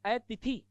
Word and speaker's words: अतिथि: अब अतिथि और अतिथि, थे को पहले बोले या तय को पहले बोले, अब होगा तो तय, तिथि जिसके आने की कोई तिथि ना हो, लेकिन उच्चारण अशुद्ध करते हैं लोग, बोलते तय बोलते थे बोलते पता ही नहीं चलता। ठीक है, और गड़बड़ हो जाती है। अतिथि नहीं, ये तिथि होगा जिसके आने की कोई तिथि ना हो।